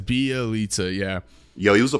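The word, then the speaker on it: Bjelica: Bielitsa. Bielitsa. Or you could piss off people and you could say Bajelica.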